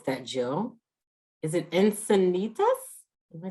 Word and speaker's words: Encinitas: jill ash from i don't know how to pronounce that jill is it encinitas am i saying that right encinitas that's right all right class of 78 all